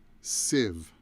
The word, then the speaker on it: sieve: Now this word is sieve. Which my dictionary says the pronunciation is like that. And sieve is a strainer, also called a strainer.